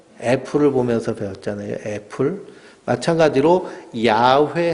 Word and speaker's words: 야훼: 이 여호와라는 말은요, 야훼라는 발음이, 이 독일 사람들이 성경을 번역하면서요, 야훼 발음이 안 돼서 야훼 비슷하게 하다 보니까 여호와라고 이렇게 발음한 겁니다. 그러니까 출애굽기에 나와 있는 하나님의 이름 원어는 야훼입니다.